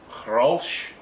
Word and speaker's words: Grolsch: I'm drinking Grolsch. That's the proper pronunciation. Right, it's a Dutch beer. It's from the Netherlands. All right, it's not pronounced. It's spelt Grolsch, but they don't pronounce it Grolsch.